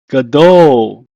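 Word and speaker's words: גדול: In Hebrew, is pronounced as gadol. Gadol.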